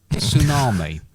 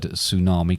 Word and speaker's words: tsunami: wonder where the word tsunami comes from silent t yeah i'll find out